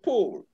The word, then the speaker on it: pull: thank you very much i want you to understand that these words are not homophones pool is not a homophone to pull sheep is not a homophone to ship god is not a homophone to cut while these ones are long these are shot and your pronunciation must indicate that okay all right my